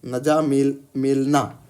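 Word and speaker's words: N'Djamena: नजा क्या है? जी नजामेल मेलना। ठीक है? चलिए डी साइलेंट था।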